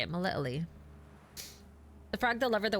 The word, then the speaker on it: Melitele: Oh, sweet mother Melitele, why I Melitele, that's how you say it, Melitele.